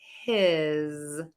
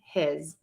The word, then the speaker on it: his: if you listen the the vowel is slightly longer when I say the word his with that z sound at the end his his his if I say the word hiss that vowel sound sounds slightly shorter because my voice is